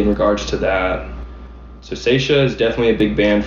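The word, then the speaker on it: Saetia: is this band from the 90s um called seisha how do you spell that s-a-e-t-i-a they're a screamo band from new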